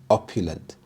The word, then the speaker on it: opulent: captivated everyone opulent opulent the stress is on the first syllable opulent opulent describes something that